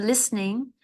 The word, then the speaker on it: listening: sure um with the listening that the tea is silent so L listening we don't really pronounce that T it's like a silent letter do you enjoy listening